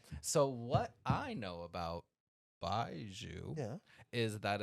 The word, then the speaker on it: Baijiu: so what I know about Baiju Yeah, is that it's pronounced Baiju.